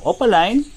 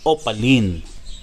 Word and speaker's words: opaline: Ang tamang pagbigkas sa salitang opaline ay opaline. Kaya lang dito sa Pilipinas ay mas kilala ito o mas tanyag na sa tawag na opaline.